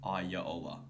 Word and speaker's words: Iraola: I think it's Iraola. No, it's with an R, but I looked up how to pronounce it. Apparently, it's like Iraola.